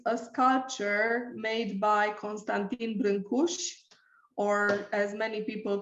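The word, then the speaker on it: Brâncuși: and it is a sculpture made by constantine brinkus or as many people call him brancusi maybe you heard his name uh being pronounced like this constantin timberland kush is romania's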